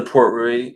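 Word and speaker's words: Port Ruighe: I have had the Port Rui and Brie. I'm sorry, Port Rui is how you pronounce that one.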